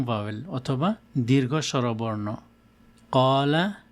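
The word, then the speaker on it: قيل: কলা, কলা। তারপরে এটি ইয়াকুলু, এখানে দাম্মার সাথে ওয়াও এসেছে, ইয়াকুলু। আর এটিতে হলো কাসরার সাথে ইয়া এসেছে এখানে, তো এটিকে পড়ব কিলা, কিলা।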